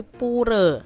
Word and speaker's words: pura: poor adik-adik ya atau kalau orang bali tuh bacanya bukan pura tapi puree ya Nah untuk hari